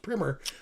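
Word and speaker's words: primer: People say primary, but me with my English degree, I know it's pronounced primmer on what the rule five draft is.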